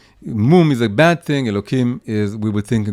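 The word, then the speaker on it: אלהים: And of course, I pronounce it with a kuf, but it's written with the hey, Aleph Lamed Hey Yud Mem, and as we say it, Elokim.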